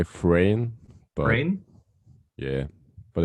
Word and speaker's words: Freyn: am here with friend is that how you pronounce it is it frying i will actually say frane brain yeah but it's okay you can just